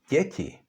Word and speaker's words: děti: They are not pronounced d and t, but d and ť, so it's děti, which means, by the way, children.